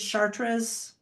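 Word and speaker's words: Chater's: The most famous doubles mix is Chartraas, which I'm probably not pronouncing right. It's probably Chartra. Um, but it's spelled charters only it's re.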